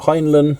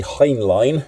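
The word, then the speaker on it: Heinlein: And they got Robert Heinland or as I've learned recently, Heinline is how it's pronounced.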